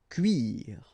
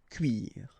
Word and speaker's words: cuire: Un cuir, and the verb cuire. Okay, so un cuir and then cuire.